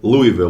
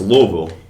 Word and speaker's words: Louisville: rest of my life though and don't say Louisville or Louisville it's Louisville which makes sense like a Louisville Slugger uh